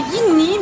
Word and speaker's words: Ingni: Ça s'écrit Ingni mais ça se dit Ing.